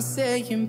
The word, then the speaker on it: saying: I'm saying, baby. I'm saying, babe. Essas palavras que terminam com NG, esse G nunca é pronunciado, tá?